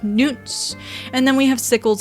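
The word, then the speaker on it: Knut: So I know in the fandom we usually just say nuts for these, but actually the spelling K-N-U-T is much closer to the Norse, the Nordic word. There was a king called Canute.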